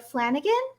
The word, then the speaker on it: Flanagan: And Meg, I'm sure I'm going to get your last name wrong, but Meg Flanagan?